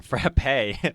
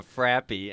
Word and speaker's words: frappe: to say it wrong a frappe from mcdonald's and i said can i have a frappy and i was like oh my gosh no i just played it